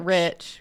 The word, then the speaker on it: Reich: So my last name is spelled R-E-I-C-H, which is the Third Reich. Reich. But we it's pronounce it Rich because Right.